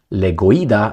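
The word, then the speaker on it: Legoyda: Russian Church spokesman Vladimir legoa Le Goa not the necessar that's the way you pronounce it labeled the move and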